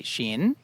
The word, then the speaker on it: gin: have taken from English, that are pronounced with this same sh sound. And instead of saying gin, the drink, we say shin.